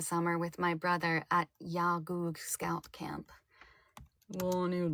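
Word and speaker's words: Iawgog: with my brother at Yagug Scout Camp. Well, I need to check that pronunciation. Yagug. Okay. I-A-W-G-O-G. Pronunciation. Yagoo. Final G is dropped.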